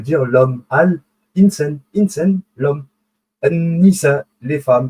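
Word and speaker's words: النساء: An-Nisa, les femmes. Vous voyez, An-Nisa, on n'a pas prononcé l'article Al, donc c'est féminin.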